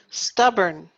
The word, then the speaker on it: stubborn: let's see neat neat stubborn now burn I know that it looks like born b-o-r-n but actually we say earn stubborn good obsessive obsessive